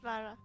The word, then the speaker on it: Lara: You well, said Laura, right? Was it Laura? Yeah. It's Lara.